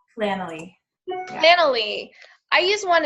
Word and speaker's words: Planoly: So, as Vanessa was talking about that, was it Plannery? Is that what your app was called? Planoly.